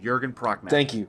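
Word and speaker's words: Jürgen Prochnow: It's Michael Bean and Jurgen Prochnow. Thank you very much. It's okay. I would have butchered Chrissy- it too.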